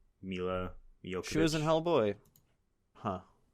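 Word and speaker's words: Milla Jovovich: Mila Jovovich. See, I thought it was like just like Mia, like you're not supposed to pronounce the L. Mila Jovovich.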